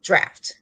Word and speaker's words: draught: I was like, in my mind, I'm singing drop, but it's really draft.